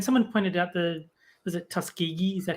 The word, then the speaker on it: Tuskegee: She was like mentioning the whole black people not getting vaccinated, and someone pointed out was it Tuskegee? Is that how you say it? Yes, the Yeah, Tuskegee yeah.